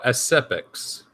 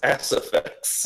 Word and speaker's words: Aciphex: Oh, Asipex. No, it's Asifex.